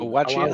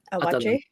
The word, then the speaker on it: Awaji: They pronounce it better on the thing. Awaji, I think. Awaji.